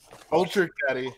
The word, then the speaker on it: Ultra Caddy: It's Ultra rhymes with Baddie? Ultra Baddie. Oh, baby. Oh no. Baby. Oh, not you too, bro. What is he building? Ultra Caddy.